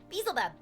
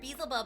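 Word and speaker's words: Beelzebub: the second pronounce yeah beel buub so yeah bbub it's the way that I've heard it too but then when I heard Basel buub I was like oh that's cute too though that's so cute though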